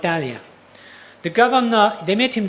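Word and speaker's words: Thanlyin: Today it's pronounced Talia.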